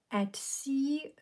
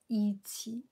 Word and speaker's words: Etsy: i make any sense is pronounced as at sea not ichi really i just i